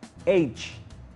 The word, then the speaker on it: age: color y recuerda que todas las palabras en inglés que terminan en g se pronuncian con che orange cuando dices la palabra edad age cuando dice la palabra